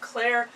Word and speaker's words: clairalience: She said that what the caller is talking about is clairalience.